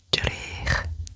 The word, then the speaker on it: drych: So you want somebody to look in the mirror, you say edrych and edrych. My pronunciation was slightly off there. I kind of had an extra at the end, but it's drech.